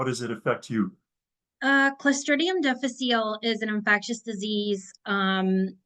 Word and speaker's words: Clostridium difficile: how to pronounce it how do you pronounce it it's called Clum defal okay and I'll take